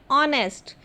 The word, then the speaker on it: honest: Spelling लिखने में HONEST है, लेकिन जब हम उसको बोलते हैं तो हम बोलते हैं ऑनेस्ट, एच साइलेंट है, तो वहाँ पर हम यूज़ करेंगे एन.